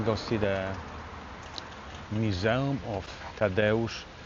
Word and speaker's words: Tadeusz: And we're going to go see the museum of Tadeusz Kościuszko. That's how you say it. Say it after me. Tadeusz Kościuszko. Again. Tadeusz Kościuszko. I'm not going to tell you how to spell it there.